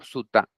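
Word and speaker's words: sutta: sabiduría Hoy quería traerles un sutra eh o suta Según como lo quieran pronunciar de el budismo terab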